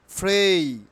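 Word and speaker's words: pray: না so let's start not পেরে কি উচ্চারণ হবে ফ্রেই ফ্রেই ফ্রেই আমরা প্রার্থনাকে কিভাবে উচ্চারণ করব ফ্রেই ফ্রেই নট প্রে ফ্রেই আচ্ছা খুবই গুরুত্বপূর্ণ একটি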